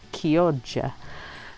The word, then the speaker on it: Chioggia: It's Chioggia or Chiogggia, but it's actually pronounced Chioggia.